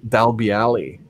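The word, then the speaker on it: Dalbeallie: Gordon Dundas told me that it's Dalbiali.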